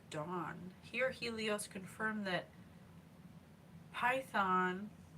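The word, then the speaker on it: Phaethon: here Helios confirmed that python python which sounds like a snake but it's spelled PA a h i t h o n was indeed his son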